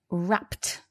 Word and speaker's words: wrapped: And now we've got wrapped. And so the reason for this is because the p sound at the end of wrap, it needs us to make a t sound.